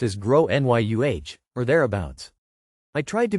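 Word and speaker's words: Gráinne: and I said well in Ireland they typically pronounce it like grow n Yu her face went red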